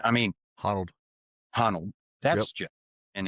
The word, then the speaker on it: Honnold: If you watch that Alex Hanold, or I can't pronounce his last name. I mean, Honnold.